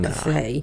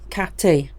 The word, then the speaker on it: Cathay: Oh, it's not Cathay. No, it isn't, Jed. No, it rhymes with cafe. Cathay.